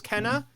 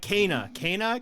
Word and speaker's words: Kana: Yeah, for the longest time I thought it was Kenna, and then they're like Kana, and then the developers Kana. I'm like, okay, I'm saying it wrong.